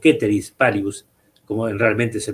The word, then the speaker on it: ceteris paribus: Acá estamos introduciendo una expresión latina, que es la condición ceteris o ceteris paribus, como realmente se pronuncia, que es una condición, es un artificio